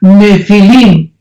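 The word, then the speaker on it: נפיל: y pH intermedia nepil se pronuncia nefil en el original hebreo esta palabra en su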